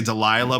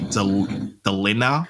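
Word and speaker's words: Delinah: an actor as well, and I can't even pronounce her name. I was going to say Delilah Blake, but it's actually Delina Blake.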